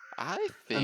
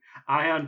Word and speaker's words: Ian: It's Ian Hazakostas. Ion. I've heard that, and I was like, no, it's Ian.